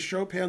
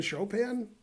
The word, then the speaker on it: Chopin: Chopin let's see Andrea boat says pronounces Chopin like chopping wood they spelled chopping wood wrong Beethoven is better than show pin don't tell my mom